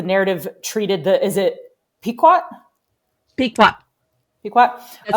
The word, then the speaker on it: Pequot: Pequot.